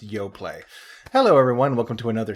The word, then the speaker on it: Yoplait: yo play yo play so it is pronounced yo play hello everyone welcome to